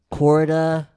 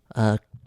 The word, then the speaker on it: Quarta: Quarta. Q-U-A-R-T-A. And then Quarata. Then Latin is like Spanish where there's no silent letters. You say everything okay. that's there.